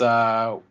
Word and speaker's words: Yooka: What and how the heck did you spell it? Is it the Yuka game, like Yooka? Ukulele? Yeah. No, it's Yooka.